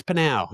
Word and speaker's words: Panau: Is the P silent? No, it's Panau. It's Panau. Yes, not per tomorrow.